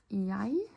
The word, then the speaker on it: jeg: So we can say, jeg er år. Or gammel. So this would be, I am years. So I am 20 years. Jeg, the E and G here are pronounced like jeg.